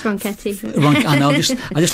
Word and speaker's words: Ronchetti: It's Ronchetti. I know, I just like where you stop me and say that song. It's spelled Ronchetti.